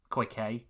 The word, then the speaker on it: Koike: Koike.